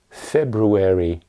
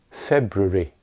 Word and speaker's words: February: Or take the second month of the year. In American English you would hear February. In British English, at most it's February, February. And sometimes it's even shorter, February.